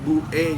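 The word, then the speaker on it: Buk'e: Kalau Buke sendiri ya sebenarnya itu cara bacanya sih jadi Buke gitu loh.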